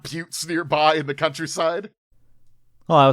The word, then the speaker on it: Butte: It's a butte. Yeah, you know what? Butteville. It's or Butte or Buttes. We got the S in there. It's pronounced Butte.